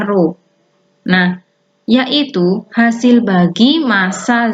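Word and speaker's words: ρ: disebut dengan kerapatan dilambangkan dengan huruf ro nih membacanya ruh nah yaitu hasil bagi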